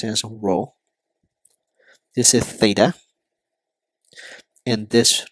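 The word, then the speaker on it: ρ: row Theta and Fe so here this is pronounced as row this is Theta and this notation is Fe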